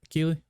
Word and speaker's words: Keighley: Led by Jeff Keighley. Is that how it's pronounced, right? Keighley?